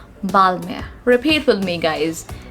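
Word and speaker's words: Balmain: l m a h we are not going to pronounce pronounce n over here and it's going to be silent and we are going to pronounce it as balmer repeat with me guys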